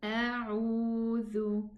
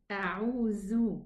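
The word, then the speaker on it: أعوذ: 2 counts for the waw because it's harf mad and it's a. A'udhu. Get your tongue, the tip of the tongue outside, touch the edge of the upper 2 teeth to pronounce the letter dhal. Otherwise, it's going to be pronounced za. A'udhu, and this is not correct.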